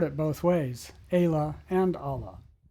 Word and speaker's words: Ala: Park superintendent, and she confirmed that the correct pronunciation is Allah, and it is from the Latin word meaning wing. That makes sense. When looking at the narrow sandy spit, I can see how the word Allah could describe the shape of the sandy finger